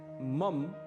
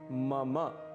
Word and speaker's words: मम: इसे मम बिल्कुल भी नहीं कहना है, इसका शुद्ध उच्चारण है मम। मम अंत में अ की ध्वनि अवश्य आनी चाहिए।